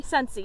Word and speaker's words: Scentsy: How do you pronounce that? Sensi? Scentsy, yes.